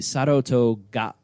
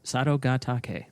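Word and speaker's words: Sadogatake: they are brothers in the Sato toga okay I know I pronounced that wrong I'm gonna open it up so that we can figure it out yeah I know it is Sanogo taki Sado gataki that is not not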